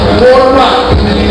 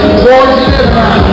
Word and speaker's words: Portarok: Say it how you spell it. Portarok. Portarok.